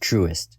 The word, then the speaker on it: Trust: my monkey brain but in reality this bank is pronounced truest but back to the